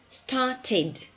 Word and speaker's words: started: T and D okay so in regular verbs that end with a day or a T we have an extra syllable at the end in pronunciation okay so the past of start is started the past of want a one tit and the past event is ended so the vowel that